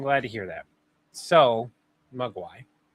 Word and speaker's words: Mogwai: How do you pronounce that? No, it's Mogwai, m o g w a i.